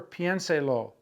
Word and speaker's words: piénselo: Think it over, piénselo. Accent's going to go on that E right after the I. Piénselo.